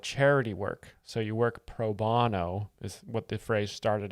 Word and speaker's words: pro bono: So you work proono is what the phrase started out as. Um but we say proono here in America. It's a different pronunciation than in Ireland.